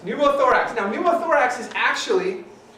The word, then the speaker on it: pneumothorax: pronounce it very well pumo thorax what was it you said it earlier yeah was pumo thorax pneumothorax okay I was going to say Nomo thorax but yes numo thorax now numo thorax is